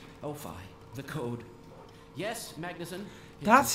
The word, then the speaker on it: Magnusson: get her back Oh fine the code yes Magnusson that's how you pronounce that I thought it was speed well